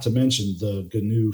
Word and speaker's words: GNU: GNU, pronounced GNU.